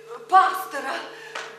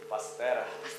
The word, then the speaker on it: Пастера: Мне так хочется, чтобы вы стали чем-нибудь вроде пастора. Ой, ну, это не верно. Правильно говорить? Пастера.